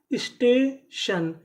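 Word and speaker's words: station: अब हमारा अगला नियम यह है कि अगर आपको कहीं पर TION लिखा मिले तो हम लोग TION को पढ़ते हैं शन। क्या पढ़ते हैं?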